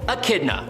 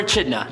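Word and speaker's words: Echidna: show up for example a kidna or achidna however you want to pronounce it AK kidna or a chida was an elder spawn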